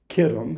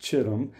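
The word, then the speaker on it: Kittim: were elisha and tarshish kitum and other places pronounced chitim and dotani and then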